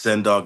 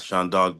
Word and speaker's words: Sen Dog: And just so you know, my name is pronounced Sen Dog, not Sean Dog, but that's a mistake that people make all the time, and it's quite all right.